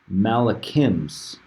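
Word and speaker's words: מלאכים: it's got the Hebrew word for angels here, pronounced malachims.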